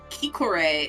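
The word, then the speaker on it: Khiquore: For context stream, it is Kikor is spelled K H I Q U O R E, which is not how I would have spelled that.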